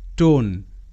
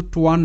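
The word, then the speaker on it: tone: টি ও এন ই টোন টোন এটা কিন্তু টোয়ান নয় মাথায় রাখতে হবে ওয়ান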